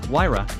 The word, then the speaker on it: Huayra: The Pagani Huayra, Italian pronunciation, Huayra, is a mid-engine sports car produced by Italian sports car manufacturer Pagani, succeeding the company's previous offering, the Zonda.